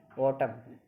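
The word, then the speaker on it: autumn: किसी वर्ड में एम और एन दोनों साथ में आए तो एम और एन में एन साइलेंट होता है, यानी कि एम आ जाए। ऑटम, AUTMN ऑटम, dam, column, Asim, ठीक है।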